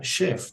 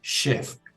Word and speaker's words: chef: Para nosotros en español es chef, pero siendo una palabra francesa se pronuncia chef, porque también comienza con ch, chef.